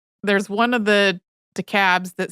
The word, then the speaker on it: DeKalb: So I had a moment before we recorded where I was like, I feel like there's one of the DeKalbs that says it differently.